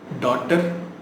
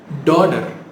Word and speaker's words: daughter: டாட்டர், டாட்டர் அப்படி தானே சொல்லிட்டு இருக்கோம், right? Which is wrong. Daughter. You pronounce it as daughter.